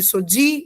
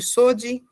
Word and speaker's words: Sodi: Então, os nomes sempre vão ser mais fortes na última sílaba. Então, Pati, filho de Rafu; Gadiel, filho de Sodi, e não de Sodi.